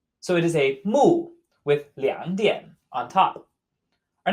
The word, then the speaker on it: 木: And note its pronunciation is the exact same as eyeball, which we see under kan. 木.